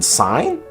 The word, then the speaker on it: sign: G has no business in being in sign nor phlegm.